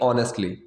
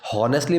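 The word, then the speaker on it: honestly: अब जो पहला है सच कहूँ तो, इस चीज़ के लिए हम लगाएंगे ऑनेस्टली। ठीक है, हॉनेस्टली प्रोनाउंसिएशन नहीं होती, अ से आवाज आती है, ऑनेस्टली।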